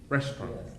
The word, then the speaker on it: restaurant: to say get restaurant so good restaurant okay so we've got a silent syllable restaurant if you don't want